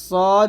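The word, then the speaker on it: ص: scene হবে পাতলা অর্থাৎ সদ যখন উচ্চারণ করবেন মুখটা ভরে যাবে মুখটা ভরে উচ্চারণ করতে হবে সদ আর সিনটা পাতলা করে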